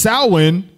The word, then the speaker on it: Samhain: Samhain, commonly pronounced Samhain, with cow, means summer's end.